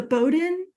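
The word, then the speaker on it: Bowdoin: read the article on the is it the Bowden Orient is that how you pronounce it yeah yeah so bowden's a school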